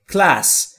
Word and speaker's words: class: دقت بکنید در کلمه class حرف ا وجود نداره و نمیگیم کلاس یا کلاس یا هر چیز دیگری. تلفظ درست کلمه class در انگلیسی به این صورته، class، و همطور که میبینید بین سی و ال هم صدایی وجود نداره.